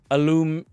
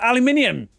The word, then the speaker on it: aluminium: Aluminum. Aluminum. What the fuck? I didn't say that. I said aluminium. I pronounce every letter of the word.